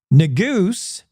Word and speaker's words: Neguse: Neguse, that's how you say his name, asked Hageman,